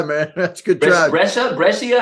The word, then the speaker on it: Brescia: Brescia? How do you say that? You got it. Brescia.